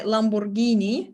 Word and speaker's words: Lamborghini: and if any vowel if any vowel uh follows after G but then there is an H AA in the middle it would always be pronounced as G for example that's why Lamborghini is pronounced as Lamborghini not Lamborghini uh and there's the